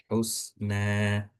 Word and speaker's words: حسنا: Jadi bacanya bukan husnan, bukan, atau husen, bukan juga. Tapi bacanya gimana? Cara bacanya husna. Jadi seakan-akan itu berharokat fathah dan dibaca dua harokat.